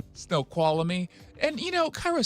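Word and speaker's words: Snoqualmie: up here and see snow colony." And then it's call me dummy. You had an extra syllable colony and see snow colony and snow qual.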